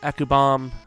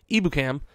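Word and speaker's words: Ebukam: Ekubam, or I keep saying it wrong. Ibukam at outside.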